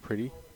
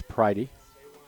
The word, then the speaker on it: Pridey: PR pridey Jack pridey so we've been pronouncing the man we've been calling Jack pretty by the wrong name it's pridey and next pitch is